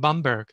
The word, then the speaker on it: Bamberg: gorgeous city in germany called bamberg i used the german pronunciation b-a-b-m-e-r-g it's one of